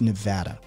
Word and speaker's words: Nevada: i live in vegas it's nevada they're very particular about it oh okay i'm from i'm from you know what i'm talking about yeah i'm from vermont originally my original pronunciation was nevada as well because nevada